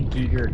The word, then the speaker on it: Giger: I say Giger cuz I think that's how it's pronounced. But I've also heard Geer for Geer.